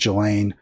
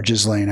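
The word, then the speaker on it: Ghislaine: uh beyond, you know, what we've already seen, which is against Gelain or Jizlane. I've heard it pronounced both ways, Maxwell and now dead uh and almost certainly murdered in my view.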